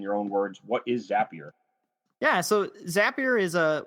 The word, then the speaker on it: Zapier: of a company called zapier and their little tagline is zappier makes you happier or it's not the